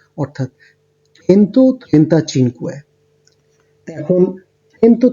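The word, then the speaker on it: centotrentacinque: তাহলে এই ৩টাকে আমি যদি অ্যাড করি তাহলে যেই উচ্চারণটা দাঁড়াচ্ছে সেটাই হচ্ছে এটার 135 এর টোটাল উচ্চারণ, অর্থাৎ চেন্তো, ত্রেন্তা, চিনকুয়ে।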